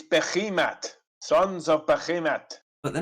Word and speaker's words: Behemoth: Sons of Behemots. How very dare you! My pronunciation has been proven to be correct by